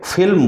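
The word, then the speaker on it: फ़िल्म: लिखा हुआ होता है तो इनका उच्चारण हम फिल्म नहीं करना है दोनों होठों को मिलाना नहीं है फिल्म नहीं बोलना बल्कि इसे फिल्म बोलना है इसे फीचर बोलना है यह दोनों में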